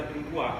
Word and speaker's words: mirepoix: A pronúncia em francês é mirepoix, quando tem O e X no final.